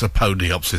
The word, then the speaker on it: Apodyopsis: They've corrected my pronunciation already. They say it's Apodyopsis, so there we go. I'm going with that pronunciation.